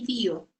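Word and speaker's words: IDEO: son los fundadores de bío bío se escribe e ideó como idea pero como así es una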